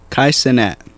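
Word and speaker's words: Kai Cenat: have said this Kai how you say Kat Kai senat go there go good job buddy k k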